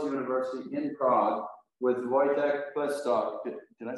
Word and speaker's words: Pleskot: I'm at the Charles University in Prague with Vojtěch Pleskot. Did I say it right? Pleskot.